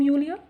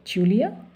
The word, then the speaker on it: Julia: Are you coming from Julia? Sorry, Julia. Julia is a German pronunciation. J they pronounce Y. And English is J.